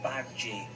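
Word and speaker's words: Badguy: It's pronounced bad G.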